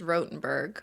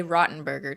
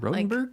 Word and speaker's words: Rotenberg: has 2 T's, but my last name only has 1, so it's pronounced rote. But despite that fact, they used to say Rottenberger to me all the time.